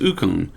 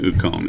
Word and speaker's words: Ukon: your kangen uconn okay it's not just uconn but it's kangen ukon and the why do